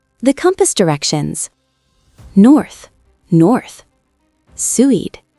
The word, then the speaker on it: Suid: Suid, south. Tricky UI sound.